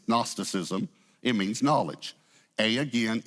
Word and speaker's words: gnosticism: from a Greek word the g is silent it's gnosticism it means knowledge a